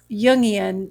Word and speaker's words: Jungian: This Jungian, Jungian, Okay. like Carl Jung, Okay.